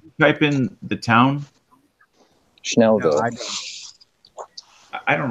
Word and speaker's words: Schnellville: Schnellville. No, I don't. I don't know how to spell that. SCHNELLVILLE. Like Achtung Schnell, that Schnell.